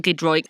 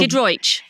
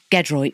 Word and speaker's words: Giedroyc: Listen, I'm not going to complain to you, Mel Giedroyc, about people getting my last name wrong.